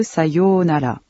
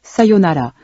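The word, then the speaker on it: さようなら: Faites bien attention à la prononciation des syllabes longues. C'est le cas de sayonara. Cependant, dans la langue contemporaine, vous pourrez aussi entendre sayonara, prononcé sans accentuer la deuxième syllabe.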